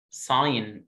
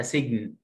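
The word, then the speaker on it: sign: ساين، اوعى تقول قريتها سجن، ساين لونج اي والجي سايلنت، ساين ساين ساين.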